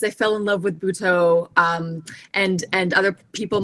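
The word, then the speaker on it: Butoh: mentioned um and i'm i may be mispronouncing this that bhuto is a part of that am i my am i mispronouncing that you are not mr that is exactly how it's pronounced okay um yeah so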